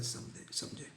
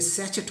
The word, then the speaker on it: sachet: ऐसे उच्चारण करने में लगता है कि ये सैचेट होना चाहिए, लेकिन इसका सही उच्चारण सैसे होता है।